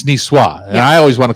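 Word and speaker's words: Niçoise: Chef Terry would say you don't pronounce the S at the end NWA it's niswa and I always want to call it Nas yeah but anyway so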